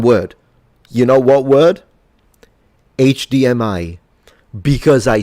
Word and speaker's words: HDMI: HDMI because I swear all Italians say acadm I which makes no sense whatsoever either say HDMI or a D m for some reasons the first three letters we read them in Italian but the last one